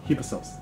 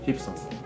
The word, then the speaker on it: Hypsos: want to do it now about how to pronounce hip sauce yeah hip sauce because I'm glad you have a dual outputs